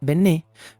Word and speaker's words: Benét: el cual Por cierto se escribe bennet pero se pronuncia benet por un acento francés que lleva en la penúltima letra el caso de John